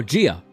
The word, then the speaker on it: Gia: Gia is pronounced exactly how it's spelled. Oh, Gia.